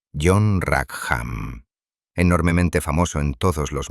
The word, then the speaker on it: Rackham: Este carismático y temido líder era John Rackham, pronunciado John Rackham, enormemente famoso en todos los mares del sur bajo el pintoresco apodo de Calico Jack.